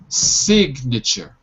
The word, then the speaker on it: signature: the s coordinate c signature signature good but here we are studying the silent letter sir can we pronounce it as sinuses listen and repeat sig nature nature that's it okay and